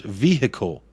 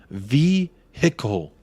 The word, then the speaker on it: vehicle: do that together Ben how many syllables in the word vehicle we all know Americans have trouble with English vehicle vehicle vehicle three there you go hope